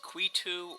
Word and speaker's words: Qetu: This isn't pronounced Quota, this is Qetu or Qetu or Qetu, something like that. This is not pronounced Quota.